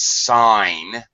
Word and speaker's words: sign: when you with the without the suffix it's sign and the g is silent yeah right so this